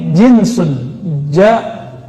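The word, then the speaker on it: جنس: Itu diucapkan "jeans." Tapi ini jinsun, jim, nun, sin.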